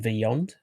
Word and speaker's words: Vyond: on, the videos that I create is called Vyond, Vyond. There Vyond. you go. There Yeah. you go. So Vyond.